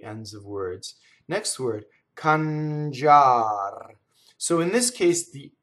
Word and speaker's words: cangiar: Notice that the I is silent, right? So cangiar.